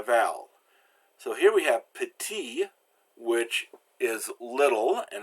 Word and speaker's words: petit: careful with those consonants now constants are always pronounced if they're followed by a vowel so here we have p'tee which is little and it's masculine so there's